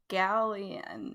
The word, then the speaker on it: galleon: nut uh or cannot i don't know how you pronounce it but uh i think it's galion i think i think you're right galleon is a is like a type of warship yeah i'm good with galleon yeah you guys are corrected